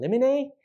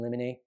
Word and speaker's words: limine: Another really common type of pretrial motion is a motion in limine. People pronounce it differently. Motion in limine, motion in limine, however you want to say it.